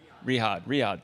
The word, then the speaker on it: Riyadh: Riyadh.